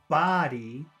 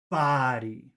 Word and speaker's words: body: air going down and if you want to say the word body you should be spitting it out body there should be some air actually coming out Body Buddy body so so buddy you eat don't eat your buddy and body you spit out I hope that answers